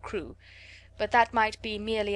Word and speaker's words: Crewe: Madame Pascal pronounced it as if it were Karu instead of crew.